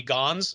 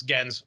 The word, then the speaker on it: Gänse: Because if it were gans, it would be gans. But then with the umlaut, it's gens or gains. But it's gens.